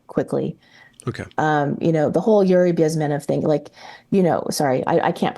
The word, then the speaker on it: Bezmenov: It's supposed to be, people say Bezmenov, it's Bezmenov, so I have to be a geek and say it the right way in Russian.